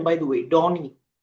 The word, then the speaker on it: Dawnene: Uh, is it the right pronunciation, by the way? Donnie.